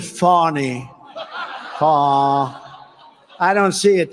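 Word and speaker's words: Fani: Fannie is just the beginning. It's not really, excuse me, I'd like to apologize to Fannie. It's F-A-N-I. She pronounces it Fawny.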